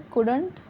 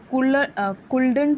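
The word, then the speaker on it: couldn't: इसको कुडंट पढ़ते हैं, कुल्डंट नहीं पढ़ना है, ओके।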